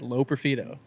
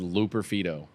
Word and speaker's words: Loperfido: you say his name Joey low peredo that's what I said low peredo it's a stick Josh I just said it not just say it no you said L peredo I just said low